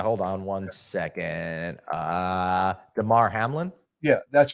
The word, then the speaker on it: Damar Hamlin: it up yeah hold on one second uh Damar Hamlin yeah that's correct and last night I was